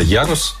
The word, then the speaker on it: Ярус: Как вообще правильно она называется, где ударение и что значит? Правильно называется Ярус.